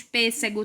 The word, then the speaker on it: pêssego: proparoxítona na palavra pêssego a sílaba mais forte é o pe então você vai lá